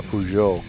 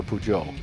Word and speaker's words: Peugeot: got that that's for sure racing who a pujo what's a peugeot joe is a car dude it's like a pigeon but you pronounce it differently so instead of calling a pigeon you call it a pujo never heard of that actually i'm just making